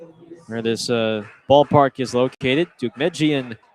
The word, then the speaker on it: Deukmejian: The street where this ballpark is located, Dugmejian Drive. That is spelled Deukmejian Jian.